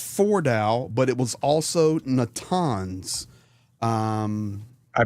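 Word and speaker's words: Natanz: So, it was not just Foral, but it was also Natans. Um, I pronounced that wrong. No surprise. So once again, Natans and Eshahan.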